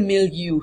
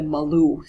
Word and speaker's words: milieu: So, it's the milieu, not the Malou.